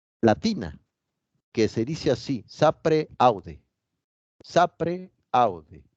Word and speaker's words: sapere aude: Aquí surge una palabra latina, que se dice así, sapere aude. Sapere aude. Se escribe sapere aude, pero se pronuncia en latín sapere aude.